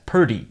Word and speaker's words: pretty: If you say pretty slowly, pretty, between the P and the R, it sounds like there's a slight vowel sound there, like er.